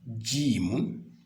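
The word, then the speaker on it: ج: Donc, le phonème est peut-être ne vous est pas très étranger puisque on retrouve le même phonème quand on doit dire Dieu.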